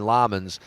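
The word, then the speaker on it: Lammens: I say Lemons and they're going Lamans.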